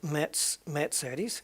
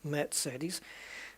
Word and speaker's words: Mercedes: we pronounce them, but the way that it's pronounced in the country that the cars are made in. And Mercedes is Mercedes. It's quite similar, Mercedes.